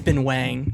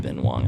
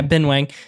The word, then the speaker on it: Ben Wang: I think it's Ben Wang, not Ben Wong. I think we've been saying it wrong.